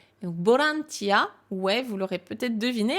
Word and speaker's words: ボランティア: pas et chez eux ils vont le transformer en fait dans leur bouche en son B donc V et beau c'est la même chose donc pour eux c'est plus facile de prononcer borantia donc borantia ouais vous